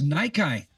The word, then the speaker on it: Nyki: like Well, you could It looks like it could be pronounced Nikki because the Y could be either, you know, play on words there.